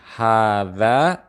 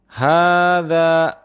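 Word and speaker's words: هذا: lafaz hadza catatannya adalah pada pelapalan huruf H kita membacanya panjang sebanyak dua harakat sebagaimana pada huruf Zaza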